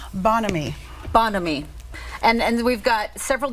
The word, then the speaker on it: Bonhomie: And how do we pronounce it correctly? Bonhomie.